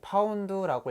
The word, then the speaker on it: lb: 자, 표준 대기압하에서 순수한 물 1LB 1LB라는 건 이제 파운드라고 읽고 이제 파운드라는 단위입니다.